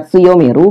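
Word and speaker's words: 強める: Kanji ini dibaca tsuyomeru bila dia bersebelahan dengan hiragana me dan ru.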